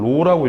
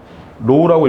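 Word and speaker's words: ρ: 이 녀석은 로라고 읽어주시면 돼요. 로우라고 읽어줄 거고 얘는 뭐예요?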